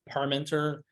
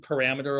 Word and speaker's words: Parmenter: It's Parmenter. It's said like it's spelled, but people here like Carpenter. What? Or I get parameter a lot because it's mathy.